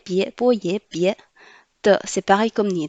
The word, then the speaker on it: 别: Ici, IE prononce ye. Avec le deuxième ton, ça fait ye. Le B prononce bo, ye, bie.